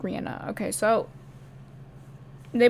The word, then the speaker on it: Rihanna: accusing rihanna rihanna rihanna it's i think it's rihanna she pronounced like rihanna okay so they pronounce